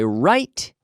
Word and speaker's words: write: WR i T ok so the W is silent every day I write an email yesterday I